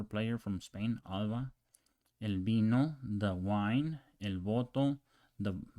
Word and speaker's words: vino: Remember that there's no vino in Spanish. It's pronounced vino with a B, with this B right here.